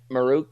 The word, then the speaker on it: Maruk: Um, Dennis, pronounce his name for me. Maruk.